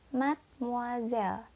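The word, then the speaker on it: mademoiselle: tulisan Made moiselle ya yang pertama yang dibacanya mesiu mesiu yang kedua dibaca madam Hai nadam dan yang terakhir dibaca Mad muzzle Apa bedanya I miss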